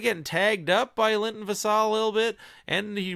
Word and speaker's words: Vassell: I always thought it was Vassell, but it's actually Vassal. It's pronounced Vassal.